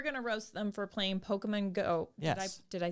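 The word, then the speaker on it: Pokémon: yourself that some of those vowels have to be cut in half so it's like pokemon okay i will tell you i thought it was pokeman for a long time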